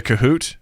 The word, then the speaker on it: Kahoot: have to say it the right way which is kahoot you gotta say it like that wait wait you heard